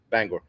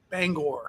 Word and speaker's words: Bangor: pronounce that? Bangor. Bangor.